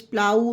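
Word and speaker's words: plough: throw night आल्दोरा प्लाउ किसी में भी फा नहीं है क्योंकि इन सब में जी एच साइलेंट है एच समझ आ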